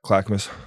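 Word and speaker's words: Clackamas: know where you're from Clackamus that's how you say it yeah yeah clackmas it's right outside of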